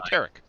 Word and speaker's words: Tarek: Rhymes with Derek, but with a T. So Tarek.